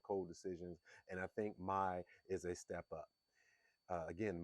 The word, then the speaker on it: Mai: It looks like it's spelled May, but it's actually Mai.